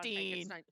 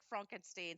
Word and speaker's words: Frankenstein: He is a Frederick von Frankenstein. Yes, Frederick Frankenstein. So we find out he pronounces Frankenstein, not Frankenstein.